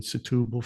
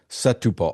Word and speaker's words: Setúbal: We had an apartment in Setubal for a year as part of our D7 visa requirement, because you have to have a 12-month lease Yes.